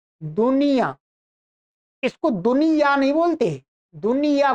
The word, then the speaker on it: दुनियाँ: क्या में जब हम या और आ उच्चारण कर रहे हैं तो नासिका से उच्चारण नहीं हो रहा। क्या। परंतु इसका उच्चारण कहां से हो रहा है?